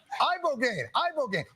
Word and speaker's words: Ibogaine: Ibogaine. Rogaine with an Ibo.